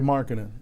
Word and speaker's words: Markkanen: And forgive me if I pronounce his name wrong. Is it Markkanen? Laurie Markkanen.